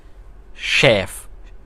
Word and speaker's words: chef: उसकी स्पेलिंग देखें तो वो CHEF, तो वो CH है, लेकिन आवाज़ देता है वो शेफ़, श की आवाज़ देता है, ठीक है।